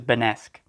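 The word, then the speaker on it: Benasque: Benesque is pronounced with a B, not a V. It's a Benesque, depending on which pronunciation, French or Spanish, you want to use.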